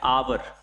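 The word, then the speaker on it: hour: article उपयोगात आणावा लागेल तशाच प्रकारे अन आवर अशा प्रकारे म्हणतो सुरुवात एच ने होत आहे एच ने होत आहे म्हणजे कन्सोनटने होत आहे पण याचा उच्चार जो आहे तो आवर असं म्हणतो आपण किंवा आर्स अशा प्रकारे म्हणतो तर अ जो आहे आर्स जो आहे तो वॉवेल साऊंड आहे त्यामुळे इथे आपण कोणता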